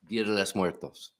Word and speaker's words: Muertos: Muertos. See, he's very He loves the the tongue roll.